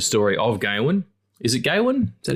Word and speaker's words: Gawain: Is it Gawain? Is that how you pronounce it?